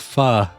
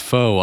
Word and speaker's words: pho: like regular people hey which I knew was not pronounced foe unlike Jade of course